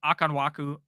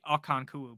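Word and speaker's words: Okonkwo: night for ham um pronunciation of akanwaku akanku no I think his name is actually akanku but I just pronounced his name wrong like a million times um iuk or waddle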